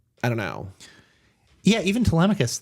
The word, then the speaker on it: Telemachus: Telemachus, yeah. At least that's how I pronounce it in my head.